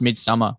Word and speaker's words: Midsommar: Yeah, but that's pronounced Midsummer. Is it English?